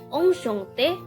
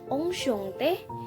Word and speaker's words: enchanté: Nah, dalam situasi informal, orang Prancis biasanya mengucapkan enchanté du rencontré.